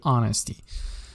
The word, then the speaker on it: honesty: honesty واتە ڕازگۆیی ئەچەکە ژۆکۆزانە silent is ناخوێنرێتەوە so you don't have to pronounce the H here, you should say honesty.